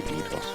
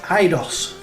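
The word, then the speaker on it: Eidos: being influenced, you know, you could easily be EDOS. You know? So I would say IDOS, and I dare say some people could pronounce it ADOS, depending on how you pronounce the E and I to the D.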